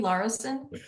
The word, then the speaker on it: Larison: Yes, it's spelled Larison. I usually pronounce it Larson because my father was in broadcasting and he called it Larson, and Oh, okay.